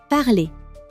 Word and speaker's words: parler: Parler, the verb to speak. That dasher ending, drop it. Parler.